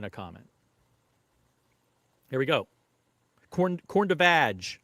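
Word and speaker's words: Corne de Vache: Corn de vag, according to Rob. I call it corn de vache. That's my pronunciation.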